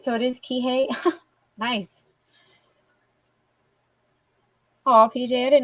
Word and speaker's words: Kihei: I did say it right so it is Kihei nice oh PJ I didn't know you knew